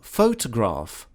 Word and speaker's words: photograph: like faux to graph right photograph you have two uh two stresses and then here you have in the middle of the word you have this uh kind of almost not even heard just folks graph photograph photograph see and this is